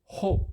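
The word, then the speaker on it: ὁ: 강순표가 있으면 히읗 발음을 포함시킵니다. 첨가시킵니다. 그래서 오가 아니고 호 이렇게 있습니다.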